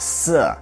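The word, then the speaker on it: شیر: of the Persian word for lion which is pronounced sir.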